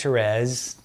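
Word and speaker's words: Thérèse: But Saint Teresa says, Saint Therese, the French pronunciation, Saint Teresa of Lisieux or Saint Therese of Lisieux, she said, every little denial that you make to yourself.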